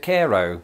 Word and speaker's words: Cairo: not too long ago we pronounce it Cairo I could definitely see